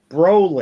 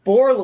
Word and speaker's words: Brolin: dick i'm just saying that's how his name is pronounced broly portland not borla why do you get